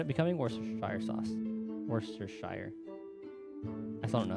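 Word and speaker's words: Worcestershire: to say it Worster cuz I feel like they just like completely leave out like half of the letters that are in the word one of the guys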